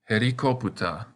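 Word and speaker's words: ヘリコプター: It lengthens the sound of the vowel. So this word is herikoputa.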